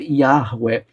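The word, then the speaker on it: Yahweh: Mas normalmente nós falamos Jeová. E mais recentemente os especialistas dizem que a pronúncia certa deve ser Iaré.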